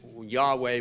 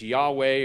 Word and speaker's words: Yahweh: my name Eternal or the yhvh we pronounce it Yahweh but we don't know what the vowels are see we know what